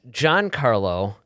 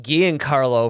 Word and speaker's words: Giancarlo: the actor's name is john carlo um esposito yes esposito i had been actually pronouncing it ghee and carlo for like a year